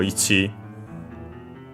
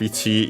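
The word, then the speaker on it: いち: So the accent of ichi is actually on the last mora. So yeah, on the chi itself.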